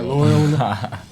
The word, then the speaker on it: Loyola: Okay, Loyola.